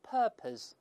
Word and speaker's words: purpose: 再看第二个 deliberately，再看第三个 on purpose，这个注意英式发音读成 on purpose，它没有卷舌音，美音中